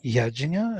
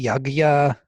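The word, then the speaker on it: यज्ञ: I would always say yajna, jnana, and people who are from India, they would say yagya, gyana, or whatever.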